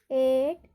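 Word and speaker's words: eight: Rule क्या कहता है हमारा, जब I और EI हो स्पेलिंग में, उसके तुरंत बाद क्या हो, GH हो, तो वहाँ पर GH का उच्चारण नहीं किया जाता है।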